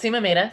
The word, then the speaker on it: Seema Mehta: It's Seema Mehta, so spelled pretty much like it's, or pronounced pretty much like it's spelled.